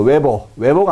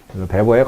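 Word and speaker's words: Weber: 웨버가 아니라 베버입니다. 독일 사람들은 W를요 B라고 읽으니까요. BMW잖아요. 뱀배 이렇게 읽으니까요. 베버의 관료제론에 대한 설명으로 옳지 않은 것은, 자, 볼까요?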